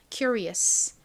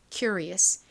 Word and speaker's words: curious: IUS는 소리가 나서 curious라고 발음이 됩니다. curious 여기이 Ri 부분도 serious에서처럼 실제 원어 발음은 re에 가깝게 소리가 나겠죠. curious curious의 의미가 뭘까요?